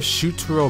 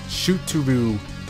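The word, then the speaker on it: Shutaro: Instead of Shuturo Mendo, they call him Shuturu Mendao.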